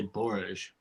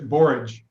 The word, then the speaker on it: borage: I think Dad used to, in the front of the store, used to say Borage, but I don't know, like a soft G. I like the hard, if you're going to say Borage, it's either Borage or Borage.